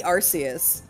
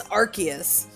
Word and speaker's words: Arceus: That's the same reason they changed the pronunciation of Arceus, the Pokemon, because it used to be Arceus.